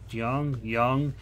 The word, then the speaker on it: Jeong: How do you pronounce it? Sarah Jeong. Jeong.